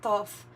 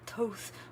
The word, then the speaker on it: Thoth: Thoth might be significant, or Thoth, or Toth, or however you want. I think they accept different ways of pronouncing that.